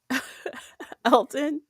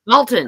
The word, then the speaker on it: Dalton: egan elgin el elgin elton elton thank you no not elton i'm saying it wrong oh god dalton i'm saying this alton yeah oh